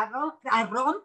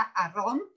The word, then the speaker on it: Arrom: Y sobre esto de las fuentes, Ana Lu dice, felicidades a la doctora Arrón, perdón. Ella me hizo notar que el apellido se pronuncia Arrón, por eso lo estoy pronunciando así, porque yo era de las que totalmente equivocada.